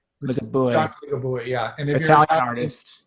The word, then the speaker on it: Ligabue: Can you help me with the pronunciation? Luciano Ligabue? Ligabue. Ligabue, yeah.